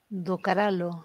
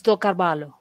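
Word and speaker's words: do Carvalho: Docaralo, as I like to call him. Yeah, I don't know how to pronounce his surname, but... Oh, it's Docarvalho. I can pronounce that, not yours. That one I can.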